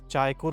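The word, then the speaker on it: Çaykur: उसी के लिहाज से यहाँ पर एक इन्होंने बोटानिकल गार्डन बनाया हुआ है, चायकुर उसका नाम है, CAYKUR, क्योंकि ये लोग सी को CH के तौर पे प्रोनाउंस करते हैं एक, तो इसका नाम भी चायकुर ट्री बोटानिकल टी गार्डन है।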